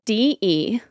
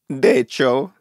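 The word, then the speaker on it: De Cecco: D-E-C-E-C-C-O. Deco. Okay. It's DeCecco.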